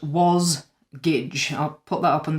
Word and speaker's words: Wasgij: actually the word jigsaw spelled backwards and it's pronounced was gage uh just in case you were interested in